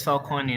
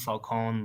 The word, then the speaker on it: Falcone: Yes, it's Falcone, not Falcone, but ever since gotten they mispronounce it.